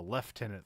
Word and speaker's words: lieutenant: like okay because like you look at the spelling of Lieutenant it's like why would you spell it that way and then um I in the British do that thing the left tenant thing because they're trying to